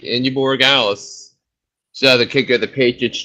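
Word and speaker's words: Andy Borregales: the Eagles defense special teams, and 13 from Indy Bargalis from New England. Yeah. Yep, you said it right. Indy Borregales.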